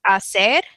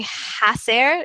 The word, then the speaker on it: hacer: pronunciation tips is that the H is silent when you're reading um so you have words like um to do the verb to do is Asser but you don't say hacer you just say Asser